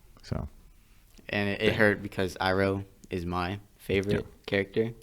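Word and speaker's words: Iroh: 's name wrong but I'm pretty sure it was iro I think they said EO yeah they said Uncle iro is it iro or oo it's iro it's iro like the actual and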